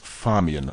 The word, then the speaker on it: Famian: Actually, it's pronounced Famian, like Fabio, except six times more attractive.